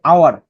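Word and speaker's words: hour: যেমন দেখো এই যে আওয়ার, তো এখানে এইচ উচ্চারণ হইতেছে আ, এখানেও কি আ। আবার এখানে অনেস্ট, এখানে উচ্চারণ হইতেছে অ।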